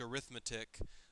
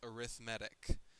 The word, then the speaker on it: arithmetic: I know the word looks like arithmetic, but it's pronounced arithmetic, and that's because it's used as an adjective if you want to know.